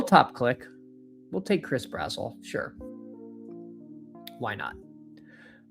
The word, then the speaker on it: Brazzell: Chris Brazzers. That's his name, right? Emo loves it. He loves some Chris Brazzers. It is, of course, Chris Brazzell. If you say it like Gazelle, it makes him sound fast.